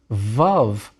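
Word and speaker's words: ו: Vav comes next. It was probably pronounced more like a W in biblical times.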